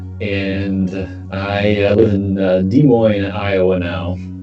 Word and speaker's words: Des Moines: i live in uh des moines iowa now don't pronounce the s and uh i don't know i guess i've been rocking with josh since i was 16.